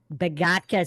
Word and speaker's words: Bogatka: So we have a special guest today on MindShock here, the one and only Bogatka. Did I pronounce that correct? Yes, you did. Bogatka.